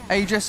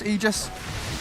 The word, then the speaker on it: aegis: aegis of the immortal aegis aegis you don't really care we had a patch where it was said that it's pronounced ages that's true ice frog